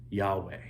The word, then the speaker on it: Yahweh: In ancient Hebrew, the name of God, Yahweh, was spelled without vowels. Now, I knew that part, but the consonants, YHWH, when pronounced correctly, don't allow you to close your mouth or use your lips.